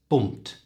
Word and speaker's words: bumped: There are a few ways in English that we pronounce words ending in ed, and in the case of bumped, it's a t sound, bumped.